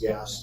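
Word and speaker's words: GAAS: auditing standards and yes the acronym for that is pronounced gas too um so those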